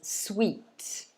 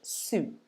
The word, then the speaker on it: suit: sound in the middle some people try to pronounce it as sweet but actually it's not sweet it should be similar to fruit that we had earlier the ui in the middle of fruit it's the same here we pronounce it soot so it's a long u sound ooh soot okay so the same as fruit fruit suit okay um